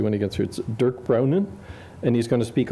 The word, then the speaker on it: Dirk Brounen: is I'm going to mispronounce his name he'll pronounce it correctly when he gets Durk brownin and he's going to speak on the economics